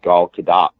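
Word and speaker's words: Gadot: uh Israeli actors named G kadat you pronounce the hard T but apparently the country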